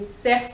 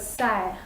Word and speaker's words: cerf: You're not supposed to say cerf, but serre, okay?